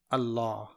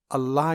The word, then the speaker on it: اللہ: وہ نام ہے لفظ اللہ۔ اللہ کے لام کو پر یعنی موٹا اور باریک پڑھنے کا قاعدہ دیکھیے، یہ اسم الجلالہ ہے